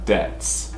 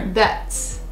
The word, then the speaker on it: debts: Não tem nada a ver com o som de B.